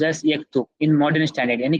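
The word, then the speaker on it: يكتب: Example यक्तुब यानी कि ही rights would be pronounced as यक्तुब in modern standard, यानी कि फॉर्मल अरेबिक।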